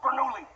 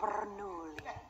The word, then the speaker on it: Bernoulli: his name is francesco bernoulli no wonder there's a crowd wait why do we know his name we don't say it like that it's three syllables not ten what he's nice to look